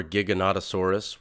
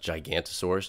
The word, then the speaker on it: Giganotosaurus: went my whole childhood thinking that the dinosaur Giganotosaurus was actually pronounced gigantosaurus just because I misread it and now I